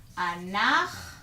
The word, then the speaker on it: אנחנו: it in English here, אנחנו. By the way, CH will be pronounced as ch, which is a letter in Hebrew. In English, you don't have that pronunciation, but in Hebrew you do, and it's this letter right here.